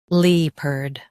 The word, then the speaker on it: leopard: Both US and UK have the same pronunciation of this word, LEOPARD. Now read the syllables shown on the screen naturally. LEOPARD, LEOPARD. Emphasize lep and soften erd.